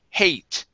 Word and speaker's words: hate: Typically, when you have an E at the end of a word, the E is silent, but it changes the sound of the vowel. Okay, so in A, instead of being hat, like this, ha, okay, it changes this to hey, hate, I hate.